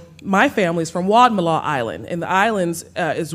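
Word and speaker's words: Wadmalaw: Wad Malaw.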